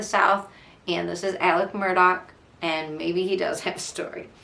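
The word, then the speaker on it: Murdaugh: the podcast the murder Murdock murders podcast but Murdock is spelled like murder if you're trying to look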